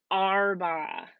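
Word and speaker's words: أربعة: the number four and this is our BA so kind of sounds like a pirate that's how I kind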